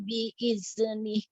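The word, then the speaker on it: بإذنه: Man zalladzi yashfa'u indahu illa biiznih. Nah, jangan dipantulkan dalnya. Illa biiznih. Illa biiznih.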